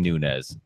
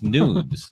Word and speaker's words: Nunes: you saying Nunes. It's Nunes because she's Portuguese last name. It's the S, not a Z.